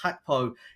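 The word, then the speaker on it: Gakpo: plays just behind them hackpo spelled um with a G so it's g-a-k-p-o but pronounced hackpo he um has been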